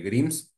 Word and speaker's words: Grimes: Te quería preguntar, bueno, mencionaste el caso de Grims, se pronuncia así, ¿no? De este Sí, Grimes, artista.